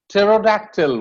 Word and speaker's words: pterodactyl: And pneumatic, pneumonia, pterodactyl.